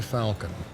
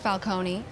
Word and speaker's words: Falcone: This is Rebecca Falcon. She's an attorney representing the company. Sounds like a Marvel character. It's pronounced falcone and it sounds like it's Italian.